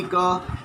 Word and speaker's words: coup: था, जो कि डेमोक्रेसी का फीचर्स में नहीं शामिल होता है. स्थिति यहीं से गड़बड़ाया और बाद में हम लोग देखते हैं मिलिट्री कू होता है, COUP, याद रखिएगा, प्रोनाउंसिएशन इज़ कू.